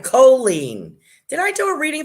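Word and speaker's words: Cholene: that coffee i pronoun colleen is saying i pronounce my name of the long o co oh that's right choline did i do a reading for you dear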